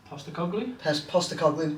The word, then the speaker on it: Postecoglou: Postecoglou, there you go.